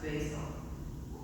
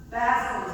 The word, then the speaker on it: Basil: Oh, I know that here in Nova Scotia that name is pronounced Basil. But Basel is actually how that this old fellow is traditionally known.